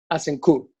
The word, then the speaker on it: Azincourt: era Azincourt, Manolo, que en francés, ¿cómo se pronunciaría? Escrito como. Pues con la boca, como todo. Azincourt.